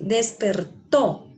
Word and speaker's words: despertó: ¿Dónde suena más fuerte esta palabra? ¿En cuál sílaba? En la última, ¿cierto? Dice despertó. Aquí suena fuerte, aquí, to. Entonces, ¿esa qué sílaba es? Última. La última sílaba. Entonces, ¿se llama una palabra qué? ¿Cómo se llama? Aguda. Una palabra aguda.